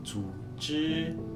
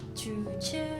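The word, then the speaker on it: 组织: Guys, organisasi di dalam Mandarin kita bacanya itu zuzi. Ya, bareng. Zuzi.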